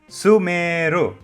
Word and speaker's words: Sumeru: So when you say the word, don't drag the su too much. Drag the meru as Sumeru.